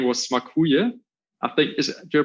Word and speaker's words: Smakuje: So our brand name was Smakuje. I think, do I pronounce that right? It's very, very well. Smakuje, yeah.